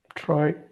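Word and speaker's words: treu: the combination of euu whenever EU comes together this combination is pronounced as o o o oi yeah write it in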